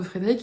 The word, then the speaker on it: Frédéric: Alors, ils n'entendent pas le E à la fin de Frédéric, ils ne l'écrivent pas.